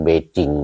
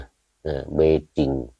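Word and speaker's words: Beijing: ปักกิ่ง เ เ ที่ จีน เขา เรียก เบจิง นะ เบจิง ออก เสียง เป็น เบจิง เ มา บ้าน เรา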